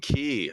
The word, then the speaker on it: Quay: apparently lock and key is the way to pronounce it lock and key ah okay okay uh my apologies yeah that